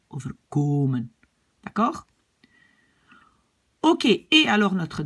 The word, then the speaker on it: overkomen: Ça m'arrivera parfois, het zal me soms overkomen, infinitif, mais quand je le prononce, je mets l'accent sur komen, overkomen.